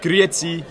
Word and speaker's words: Grüezi: you would say grüezi or salutzame if it's a bigger group, and grüezi. That means hello. Grüezi. You know, it's not spelled like that at all.